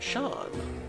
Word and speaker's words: Seam: The name seam pronounced Shawn.